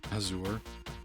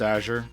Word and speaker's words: azure: that set internet dictionary voice tells me it's azour yeah it's azure but you know whatever you want to pronounce it Azor and sound like a prick you can that's